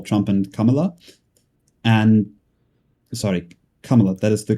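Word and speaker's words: Kamala: and Trump or Trump and Kamla and sorry, Kamla, that is the correct pronunciation, right?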